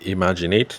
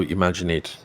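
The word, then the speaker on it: IMAGIN8: She has a gift business in um Lagos and it's called um Imaginate, but it is spelled uh I M A G I N and then the number eight. So imaginate.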